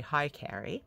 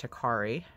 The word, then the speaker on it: Hikari: I have this, I like to say Hi Carrie, but I'm sure it's pronounced Hikari.